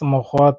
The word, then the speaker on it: mogote: How to pronounce mogote and make sentence, please.